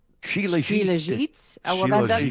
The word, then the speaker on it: Shilajit: From what I'm looking at online, I think it's pronounced Shylajit. Shilajit?